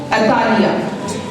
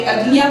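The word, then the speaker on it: Athaliah: अतालिया, Bible में जिसका इसके स्पेलिंग लिखे हैं वहाँ पे अतलिया पढ़ा जाता है, लेकिन इंग्लिश में अतालिया भी बोलते हैं और हम भी ज्यादातर इसी नाम से वाकिफ हैं।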